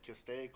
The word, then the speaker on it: Castaic: Castaic Is that Lake. how you pronounce it? Yep. Castaic Lake.